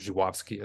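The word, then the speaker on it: Żuławski: we did it, Andrei Zulawski, or Zhuwowski, I think it's how it's actually pronounced, a whole retrospective on him.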